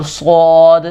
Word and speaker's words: صاد: بھی کریں گے اور صاد کے اندر بالکل سین والی آواز بھی نہیں لانی، صاد اس طرح بھی نہیں پڑھنا، اور صاد زیادہ بھی موٹا نہیں کر دینا، ایک درمیانے لہجے کے اندر درمیانے انداز کے اندر اس کو ادا کرنا ہے، صاد صاد۔ بہت سارے لوگ صاد اور